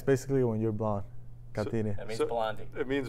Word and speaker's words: Catire: So that's how you pronounce it, Catire.